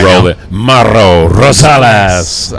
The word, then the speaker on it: Mauro Rosales: Mauro Rosales. I'm not sure I was supposed to pronounce the R's quite like that, but anyway, it sounded fun.